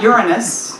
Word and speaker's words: Uranus: It's pronounced Uranus, by the way, but anyway.